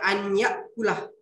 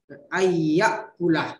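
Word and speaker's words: أن يأكل: Tidak dibaca anyakulah, tapi dibaca ayyakulah ya.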